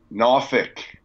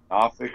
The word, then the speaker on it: Norfolk: Little Marshall at ODU, had never been to, and it's pronounced, I want to make sure I get it right, Norfolk, Virginia. That's right. Norfolk, Virginia.